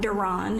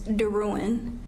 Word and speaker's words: DeRuin: My last name is not Duran, it's DeRuin.